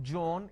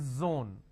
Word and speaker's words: zone: don't make a mistake the moment you replace the Sir with a jar it's a mispronunciation it's not zebra it's zebra it's not John it is Zone it's not Jill it is Zeal it's a z sound another mistake that people